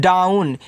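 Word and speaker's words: down: आगे लिखा है student D ओ डब्ल्यू एन देखो इसको पढ़ते हैं डाउन क्योंकि ओ डब्ल्यू एन को आउन पढ़ते हैं।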